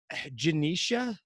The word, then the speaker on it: Genecia: And our next guest, Genecia, is that how it's pronounced, right?